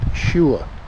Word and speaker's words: Agie: the poposhua falls trail that agi is pronounced shua um and we've got